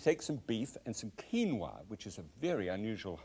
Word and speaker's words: quinoa: Right, now, what I'm going to deal with is quinoa, and Quinoa, and you might have pronounced that quinoi or something like that. I used to.